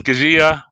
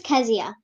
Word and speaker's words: Keziah: carry the correct spelling that's k-e-z-i-a-h pronounced at ask zia i'm doing this because when kazia makes it in the big time people would know how to properly uh pronounce your name is that correct kazia yes okay so i'm pronouncing it properly right at nine years old okay so i have been mispronouncing it all along oh my god kezia there you go so do we stress